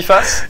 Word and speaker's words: PFAS: Ça se dit PFAS. Il y a un problème de prononciation. Ça fait une semaine que je dis PFAS.